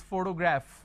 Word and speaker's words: photograph: in fun often tough now look at this i have the pronunciation of fur but the letter f is missing for example if i have the word which is photograph photography photographer so anything p h o here it carries a function of a fur but the letter f is not there so you got to be careful there as well so you